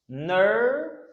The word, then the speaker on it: nervous: Nervous. M'te dit nous OUS là prononcer tant coup S.